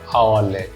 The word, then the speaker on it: hourly: have arrived exactly Dash hourly I told you before our though the first letter is consonant but it's silent however oh we're not